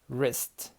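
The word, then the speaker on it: wrist: هي خطا راب راب راب يلف او يغطي ريست ريست اللي هو الريستي رايت رون ريست يبقى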